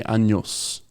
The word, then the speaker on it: años: So one really common one is saying, if you want to say I am 20 years old, You say tengo 20 años.